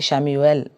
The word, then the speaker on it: Chamuel: जिन जिन को चाहिए प्लीज़ शैम्यूएल, लिखने में वो CHAMUEL लिखा जाता है, प्रोनाउंसिएशन उच्चार में उसे शैम्यूएल बोला जाता है।